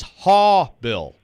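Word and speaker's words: Haubeil: ohio state pronunciation guide oh it's haw bill so it's h-a-w blake hall bill here we go if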